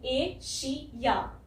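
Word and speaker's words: Asia: ये आई ए जो है यहाँ पे या आ रहा है, य, यहाँ पे वाई लेटर कहीं नहीं है, लेकिन इसको हमें बोलना है एशिया है। हल्की सी य साउंड आती है जब हम एंड में बोलते हैं एशिया, या, है ना। तो इसलिए कंफ्यूजन होती है लोगों को। यहाँ पे वाई कहीं लिखा नहीं है, लेकिन वाई की साउंड आ रही है एंड में, है ना।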